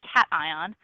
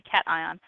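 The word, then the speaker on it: Cation: which is mispronounced because it's really cat ion and it's actually spelled the same way so she is Kinsey cat ion um so how many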